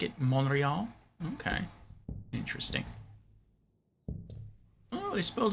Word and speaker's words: Montreal: know that Tachi says you are not supposed to pronounce the T in Montreal so it's monreal tach say I would